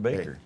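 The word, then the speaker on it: Bakker: And it is pronounced Baker.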